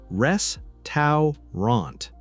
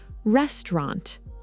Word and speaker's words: restaurant: Rest to rant. Many learners say it exactly like that, but native speakers often say restaurant.